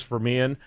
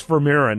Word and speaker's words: Vermeeren: out at his website and again it's Douglas veran ver verir excuse me and ver yeah is spelled v r I bet bet the way